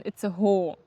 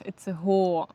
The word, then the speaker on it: Itzehoe: Hier haben wir es nämlich mit einem Dehnungs-E zu tun am Ende von dem Wort. Also sagt man Itzehoe, weil das, Ahoi, aho. weil das E am Ende einfach das O lang machen soll.